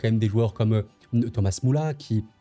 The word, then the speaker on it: Müller: Surtout que, voilà, hein, la liste de l'Euro, on voit quand même des joueurs comme Thomas Müller, Müller, hein, si vous voulez, en français, on peut le prononcer comme ça, qui a 34 ans certes, mais qui va porter cette expérience-là.